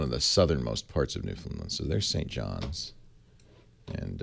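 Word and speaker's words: Newfoundland: out of me whoa ashery says it's pronounced new found land no newfinland land I think he said Newland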